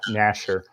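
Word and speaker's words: Gnasher: think yeah nasher's you this g being silent is usually how i pronounce it but yeah nasher is how he's been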